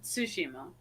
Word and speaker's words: Tsushima: You got to go Tsushima. Like it's like I said it so bad right there, but I was exaggerating. So it's Ghost of Tsushima. So there is a T sound there.